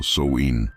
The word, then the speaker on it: Samhain: El Samhein pronunciado Soin, era una de las